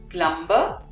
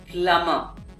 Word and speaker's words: plumber: call this gentleman home well he's none other than a plumber no it is plummer so the b remains silent in this word and we